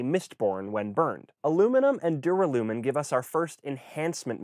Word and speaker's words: duralumin: researching for this video I discovered I'd been pronouncing wrong for years duralumin it sounds so much cooler with gold and